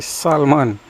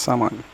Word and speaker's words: salmon: Now, this is our salmon, or some people may say salmon, but I think it's pronounced salmon.